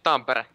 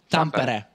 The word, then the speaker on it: Tampere: Yeah, you say Tampere. Tampere. Yeah. I said this at the beginning. Yeah, but I forgot. All right, okay. And I wanted to double check with the Finnish guy. Tampere.